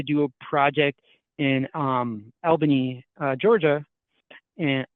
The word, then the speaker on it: Albany: a project in um elban Georgia and Albany I pronounce it like a northerner but it was one